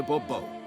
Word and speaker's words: Bobo: yet as Monsieur de Bobo please the emphasis falls on the last syllable now I'd rather emphasize